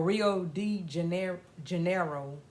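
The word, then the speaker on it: Rio de Janeiro: was they were to go to Brazil or Rio D Jan Janeiro that's how you pronounce it a place in brazzil and they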